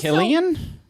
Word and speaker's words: Cillian: It's pronounced Also- Killian. Cillian. Yeah, I would have pronounced it Cillian.